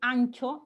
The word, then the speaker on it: ancho: Ese ancho, hinchar, se pronuncia como si fuera una ñ, digamos, en la misma realización.